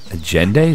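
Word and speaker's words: Allende: he's with a jendi agend that's how you would pronounce a l l e n d e agend it's a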